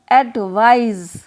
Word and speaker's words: advise: ADVICE एडवाइस, और इसका pronunciation एडवाइस होगा, ADVICE, और दूसरे वर्ड का प्रोनाउंसिएशन एडवाइज, ADVISE होगा।